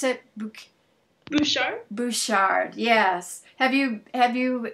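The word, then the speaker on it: Butchart: the some of the best how do you pronounce it bouchard bouchard yes have you have you been able to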